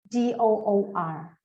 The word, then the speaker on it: door: words right yes um there's no R in the beginning so it's just door uh I'll write it